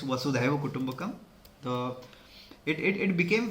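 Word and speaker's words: Vasudhaiva Kutumbakam: of some of the people also mysicly pronounce it as wasu kutumbakam but that's not the correct it's was kumak the it it it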